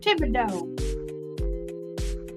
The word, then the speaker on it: Thibodeau: But you got to say it like that. Boudreaux and Thibodeau. Boudreaux.